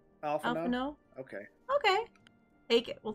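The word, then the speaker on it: Alphinaud: Alphano? Alphano? Okay. Okay. Take it. We'll take it. I guess the D is silent type thing.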